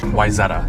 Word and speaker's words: Wayzata: this should be interesting to say the least wetta thank you WIA yeah it's mispronounced all the time so don't so how